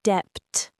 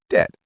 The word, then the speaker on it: debt: Same story with debt. People say debt. But it's just debt, clean and simple.